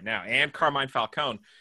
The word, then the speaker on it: Falcone: playing Mob Syndicate Carmine Falcone, Falcone, depending on how you pronounce it. It depends on the iteration, right? If the E is silent or not.